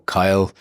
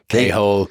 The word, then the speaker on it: Cathal: started yeah so look my name is it's h gaic it's gaic for Charles it can be pronounced iose kahal or kahal um or when you come to the US or even the UK you know Kyle khole uh Germans call me khole Americans a lot of